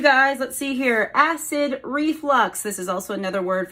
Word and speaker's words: reflux: but it's not acid reflex it is acid re flux with a u and the final word